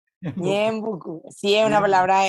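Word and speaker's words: Ñeembucú: ¿Pronuncié bien Ñembecú? Ñembucú, Ñembecú, Ñembucú.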